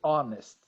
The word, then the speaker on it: honest: Vitor, you don't pronounce the age in honest. You say honest.